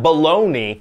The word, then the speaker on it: bologna: we got for that maybe we call that baloney baloney I like that b-o-l-o-g-n-a what was that